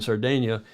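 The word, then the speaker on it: Sardegna: and vento D Sardinia the Italian Sardinia is the Italian pronunciation uh he is running third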